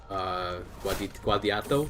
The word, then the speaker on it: Guadiato: So I guess we can get rid of Guadiato. That's how you say it.